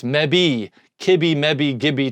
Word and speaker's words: mebi: So it's me-bi, kibi, mebi, gibby, tebi, pebi, egsby, zebi, and yabi. That's how you pronounce them.